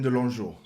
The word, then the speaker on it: De Longeaux: So how do you pronounce it? Let us know. De Longeaux. De Longeaux.